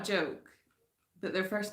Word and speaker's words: Joke: And it's pronounced Joke. Sigmunds Bergen. Sigmunds Bergen. And your name is... is it Yoke? Do you not pronounce the J?